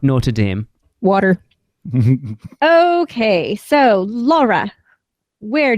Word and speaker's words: Notre Dame: Notre Dame is somewhere in America that you guys pronounce wrong all the time anyway. It's Notre Dame. It is a foreign word. It's not Notre Dame.